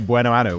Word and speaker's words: Buenoano: Like, I've got these two pronunciation dictionaries that I use. It wasn't in there. So we're just going Buenoano.